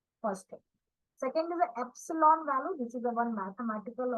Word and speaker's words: epsilon: column the second is a EPS that is pronounced as Epsilon value and the second is a minimum points